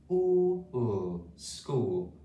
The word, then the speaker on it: school: SC school with a silent H there.